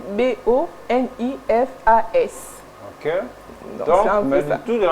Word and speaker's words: Boniface: Et le deuxième boniface, là c'est pour les hommes, ça s'écrit B O N I F A S.